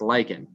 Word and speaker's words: lichen: known as lichen um lycan is spelled l-i-c-h-e-n so it's not like l-i-k-i-n it's not like i'm liking it it's um it's lycan l-i-c-h-e-n and there's actually so